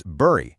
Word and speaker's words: Bury: Then there's Bury, which is pronounced like the fruit berry.